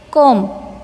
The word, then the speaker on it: comb: Comb. Comb. In this word, B is a silent letter.